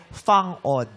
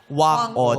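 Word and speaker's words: Whang-od: Sa kanila parang ano ah dialeekto o sa kanilang salita doun sa kalinga ang bigkas pala ay fang od. Fang O. Fang od. Pero tayo nakasanayan na natin na Wang Od.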